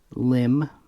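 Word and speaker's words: LEM: Now we're going to talk about the lunar module, originally known as the LIM. And it's always actually pronounced that, but it was originally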